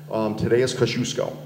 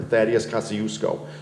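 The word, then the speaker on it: Tadeusz Kościuszko: Tadeusz Kosciuszko. We know him, the Twin Bridges are named after him, or Thaddeus Kosciuszko, depending on how you want to pronounce it.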